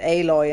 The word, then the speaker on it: Aloy: they went for the calling her alloy like metal but they pronounce it aloy and I think that's